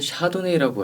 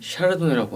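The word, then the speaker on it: Chardonnay: 미국에서는 샤도네이라고 하죠. 프랑스에서는 샤르도네라고 합니다. 저희는 그냥 샤르도네라고 읽을게요.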